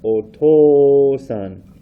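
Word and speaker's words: お父さん: Just like up here, it's a long o sound. Oto-san, oka-san.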